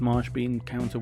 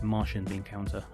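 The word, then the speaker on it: Martian Bean Counter: to work out it's marsh bean counter one what do i keep saying marsh being counter when it's martian being counter i really need to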